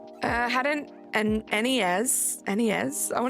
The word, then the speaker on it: NES: NES. I want to say NEZ and then I spelled NES, but I said it wrong.